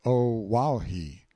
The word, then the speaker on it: Oahu: I named him after this island, Oahu, pronounced O Wahhei.